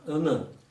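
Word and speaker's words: onen: the word for one is, if you spell it O-N-E-N, it's all right, but that's pronounced unnen.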